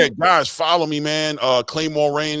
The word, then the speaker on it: Claymore Rain: Claymore Rain. It's the way it's spelled, Claymore. Rain, like the water outside.